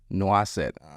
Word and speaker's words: Noisette: Noisette? That's how we say it here in Yeah. the South, especially. You go to France, it's Noisette. Noisette.